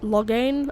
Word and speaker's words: Loghain: You approach the tent of Tairn Loghain. State your business. Loghain? I'm sorry, it's Loghain. I know the different accents I know different accents pronounce different things, but still.